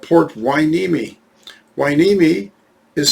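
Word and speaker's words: Hueneme: correctly i live in a city called port wai nimi wai nimi is spelled h-u-e-n-e-m-e i can't tell you how many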